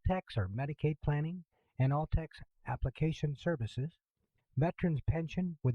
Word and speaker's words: ALTCS: questions what does altcs stand for which is pronounced all text who's eligible for all texts once qualified what